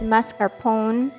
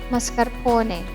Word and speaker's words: mascarpone: it's usually pronounced as mascarpone or mascarpone but we want to stay loyal to the italian language and say it as mascarpone or could pass as